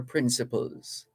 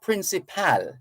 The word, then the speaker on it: principle: what are your principles now the pronunciation some of us take it a little off the boil p r i n p is not it's not principal for sure we're going to close that gap a bit and say principle principle principle so you're not saying principle you're saying principle principle hospital principle hospital that's a pronunciation and principle